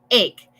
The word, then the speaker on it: ache: So, número 1, ache. A-C-H-E. La pronunciación no es H, sino ache. Si fuera E-I-K, como con los sonidos de español. Ache. Okay.